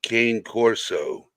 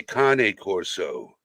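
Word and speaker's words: Cane Corso: Italy they don't say Kan Corso in Italy they say Kane Corso that is the proper pronunciation because it's an Italian breed yeah it needs a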